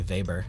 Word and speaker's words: Weber: it actually wasn't by Weber but they all thought it was oh oh I should say vber let pronounced vber that's bad musician back